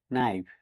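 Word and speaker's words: knife: এখানেও স্কেলডার সাইলেন্ট থাকবে কে এন আই এফি নাইফ মানে চাকু অথবা ছড়ি এখানেও কে লেটারটি সাইলেন্ট থাকবে কে এন ও টি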